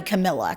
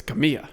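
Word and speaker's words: Camila: It's got to be Camilla because that's how you say that. Well, name. no, that's how you read it phonetically, but it's Camilla.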